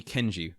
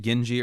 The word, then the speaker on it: Kenji: Yeah, and I was mispronouncing it Genji earlier. In my head, I remembered a G, but it's with a K.